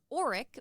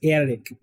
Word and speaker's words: Erik: Now, I thought for like half the movie his name was Auric, based on the way everyone is pronouncing things. Yeah, his name is pronounced Erik, which is the, Norwegian kind of, even Germans.